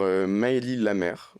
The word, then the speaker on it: Maëlie Lamère: Aujourd'hui, on est rejoint par Maëlie Lamère, c'est comme ça qu'on prononce son C'est comme prénom.